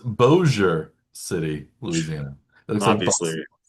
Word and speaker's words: Bossier: Oh, it's pronounced Boer City, Louisiana. Obviously B O S I E R. Bojer City, Louisiana.